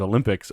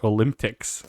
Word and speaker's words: Olympics: Okay, first of all, what kind of a person pronounces Olympics Olymp-ticks?